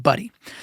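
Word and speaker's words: Budde: named Maran buddy okay b u DDE E I think it's pronounced buddy so which is to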